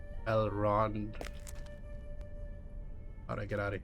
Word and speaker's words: Elrond: Elrond.